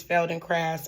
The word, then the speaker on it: Feldenkrais: But I now know that the proper way to pronounce it is fel and craft.